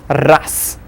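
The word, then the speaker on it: раз: We see raz, since z is there at the end of the word, we'll pronounce it as ras.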